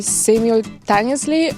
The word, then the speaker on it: simultaneously: I never know whether it's supposed to be simultaneously or simultaneously. Simultaneously. And this is how it should be pronounced.